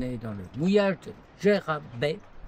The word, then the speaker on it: Dwejra: Alors aujourd'hui, on est dans le mouillage de Gérab. La prononciation c'est c'est limite.